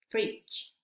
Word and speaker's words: fridge: ¿Cuándo no se pronuncia la letra D en estas palabras? Vamos a ver cómo se pronuncian correctamente. Batch, batch, bridge, bridge, budget, budget, edge, edge, fridge, fridge.